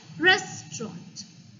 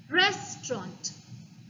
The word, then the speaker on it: restaurant: so while pronouncing the first syllable is pronounced res the second syllable is pronounced and third syllable ront so on the whole it comes out as restaurant restaurant repeat after me restaurant perfect all right